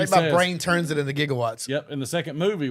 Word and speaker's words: gigawatts: do they call them jigawatts correct they they mispronounced it they did not know oh they said it wrong in the movie yeah I never noticed